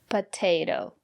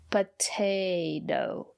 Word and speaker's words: potato: at this word potato the first letter T is pronounced as t because the syllable after the letter T is stressed potato and the second letter T is pronounced as a fast potato because the syllable after the second letter T is not stressed potato I love potatoes